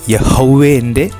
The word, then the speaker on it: യഹോവേ: വിവർത്തനങ്ങളിൽ ഇത് കൂടുതൽ സാധാരണമായി എന്നിരുന്നാലും യഹോവ എന്നത് യഹോവയുടെ യഥാർത്ഥ ഒരു ഉച്ചാരണം അല്ലിത് എന്നാണ് ചില വിശുദ്ധ ബൈബിൾ പണ്ഡിതന്മാരും ഭാഷാ പണ്ഡിതന്മാരും വിശ്വസിക്കുന്നത് അപ്പോൾ നമ്മൾ മനസ്സിലാക്കേണ്ടത് ഈയൊരു വിശുദ്ധ നാമത്തിൻറെ യഥാർത്ഥ ഉച്ചാരണം യഹോവേ എന്നതാണ് യഹോവേ എന്ന വിശുദ്ധ നാമത്തിൻറെ